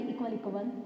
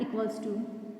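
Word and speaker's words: ==: इसे हम ऐसे नहीं प्रोनाउंस करेंगे इक्वल इक्वल, नहीं, ये क्या है हमारा इक्वल्स टू।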